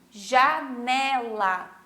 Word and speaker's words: janela: E aqui, janela. O né fica mais forte também quando eu vou pronunciar.